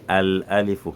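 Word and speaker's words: الألف: Si je dis Al-Alifu, ma bouche sera légère, il n'y aura pas de l'air ou bien une lourdeur dans la bouche.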